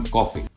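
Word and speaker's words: Coffey: जिसका नाम है John कॉफी। Yes, sir, boss. Like to drink, only not spelled the same.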